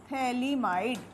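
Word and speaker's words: phthalimide: ये जो कंपाउंड है, this is known as थैलीमाइड। अब स्पेलिंग ध्यान देना थैली आई एम आई डी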